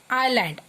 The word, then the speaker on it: island: Children, here is a spelling of island, I-S-L-A-N-D. In this word, S is silent, so we spell it as island.